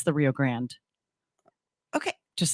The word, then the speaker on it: Rio Grande: and i can't say i'm just thinking laugh grande it's rio grande and it's rio that makes sense to me yes look at her throw on some logic truthfully conversation it's the rio grande okay just saying no